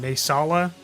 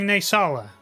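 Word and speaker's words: Naesala: Naysala? It's like salsa, but not salsa.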